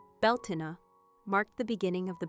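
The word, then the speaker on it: Beltane: Beltain pronounced Beltina marked the beginning of the bright half of the year where Sam Huain ushered in the dark.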